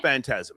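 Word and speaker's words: Phantasm: Yeah, but it's pronounced fantasm.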